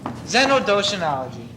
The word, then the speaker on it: xenodoshinology: Xenodoshinology. Repeat after me, baby. Xeno. Back off. Doshi. I can't breathe. Nology. Xenodoshinology.